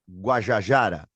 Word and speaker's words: Guajajara: Me corrija a pronúncia, Sônia Boni Guajajara.